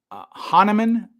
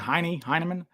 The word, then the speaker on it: Hahnemann: Hahnemann, I believe is how you say that. I've been saying Heinemann.